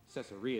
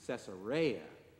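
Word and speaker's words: Caesarea: of reading the lessons even saying cesaria instead of cesaria cesaria is how Americans say it cesaria is how it would have been said very good I appreciate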